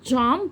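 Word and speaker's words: jump: تقفظ واخلي بالي ان لما بنطق حرف الجي في كلمه جامب فبحط كده حرف الدي خفيفه قبل ايه قبل الجاي فبقول جامب جب يو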